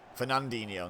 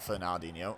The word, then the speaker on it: Fernandinho: passes it to fernandinho fernandinho not fernino oh good pressure there